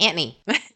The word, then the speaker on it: Anthony: time you say anony that's exactly how a lot of New Yorkers pronounce Anthony like anony when I was writing